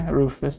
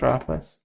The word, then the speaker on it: ruthless: Ruthless, not roughless.